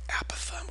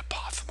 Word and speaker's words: apothem: Over here we have the apothem or the apothem. I've heard it pronounced both ways. So I kind of go back and forth, okay?